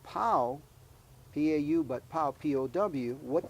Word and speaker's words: pau: yes and Paul p-a-u spelled p-a-u which is actually pronounced pow p-a-u but pow p-o-w